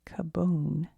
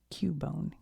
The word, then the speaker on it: Cubone: Some think that learning to cope with its grief is the only way kabone can evolve. How to say it? Cubone.